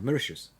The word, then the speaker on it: Mauritius: So No, I've got one guy, Oliver, who attends my classes from an island, I think it's pronounced Mauritius, in the middle of the Indian Ocean. yeah, Mauritius.